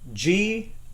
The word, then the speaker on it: Graehme: and I thought maybe I'd ask him to spell it so we all know what it is. Okay, so it's Graehme.